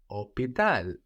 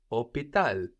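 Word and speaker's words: hôpital: hospital in French is opal opal h o p i t a l so we have the silent h again like in ab and there's no s here op op op how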